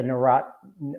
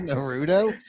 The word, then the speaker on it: Naruto: feel of it yeah I knew I said it wrong I said to Roddy what is it called Naruto Naruto yeah you've got uh you got in my head I almost said it wrong too I got the vowels mixed up I've never even seen